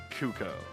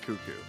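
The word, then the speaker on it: Cucco: of cucko like yeah it's definitely cucko not cuckoo but that's you know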